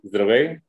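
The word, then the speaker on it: Здравей: It's Drafty, Zdravey, Drafty.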